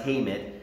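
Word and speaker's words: חמד: throughout the scriptures is is Hammond h-a-m-a-d it's pronounced hamit and it's it's to mean Delight in or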